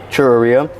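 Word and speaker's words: xurreria: is with the X, churreria. The X makes like a ch sound, so that's why you see all these churreria spelled with a churreria.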